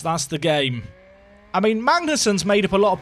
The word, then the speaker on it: Magnussen: Magnussen is actually pronounced Magnussen. It's soft.